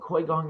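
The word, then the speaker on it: Qigong: That's called Kui Gong exercise. So you want to look it up. It's called, the way you spell it is a Q-I-G O-N-G, Gong, Kui Gong exercise.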